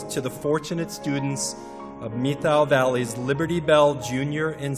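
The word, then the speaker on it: Methow: It's spelled M-E-T-H-O-W, but the pronunciation, if you're a local, is Methil. Methil, yeah. So they'll know if you're a tourist if you pronounce it Methil.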